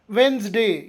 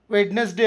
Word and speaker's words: Wednesday: ಈಗ WEDNESDAY ಪದದಲ್ಲಿ D silent ಆಗಿರುತ್ತದೆ. ಹೇಗೆ? ವೆನ್ಸ್ಡೇ, ಇದಕ್ಕೆ ವೆಡ್ನೆಸ್ಡೇ ಅನ್ನೋದಿಲ್ಲ, ವೆನ್ಸ್ಡೇ ಅಂತೇವೆ.